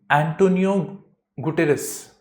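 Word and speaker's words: António Guterres: तो इस रेफरेंस में इनके जो मिनिस्टर्स है, स्पोक्स पर्सन मिनिस्टर्स जो भी है, उन्होंने एंटोनियो गुटेरेस, ठीक है, उसकी प्रोनाउंसिएशन यही है, तो एंटोनियो गुटेरेस को उन्होंने लेटर लिखा है कि भाई हमको बोलने दो UN के अंदर।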